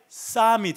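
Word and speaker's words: Psalm: 그리고 A 그래서 풋살모스에서 풋살을 그대로 쓴 건데 영어 발음은 이게 쌈이 됩니다. 쌈. 그러니까 발음이 완전히 다르죠.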